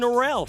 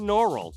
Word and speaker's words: Norrell: name is Owen Norrell a guy who I mispronounced his own norelle for a while hair slow when you get their kid's name right Owen Norrell he's a beast also